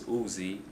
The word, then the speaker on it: Uz: this on U translation Oz guy said it was uh pronounced as Uzi I will put the